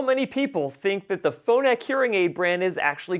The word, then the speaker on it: Phonak: Okay, so the other thing you need to know about the Phonix hearing aid brand is that there is no Phonix hearing aid brand. The brand I'm actually talking about is Phonak.